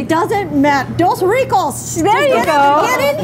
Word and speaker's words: Dos Ricos: Dos Rico. I'm not saying it the way I don't think I am. I did right. so well earlier. Nancy said it right. It doesn't matter. Dos Ricos.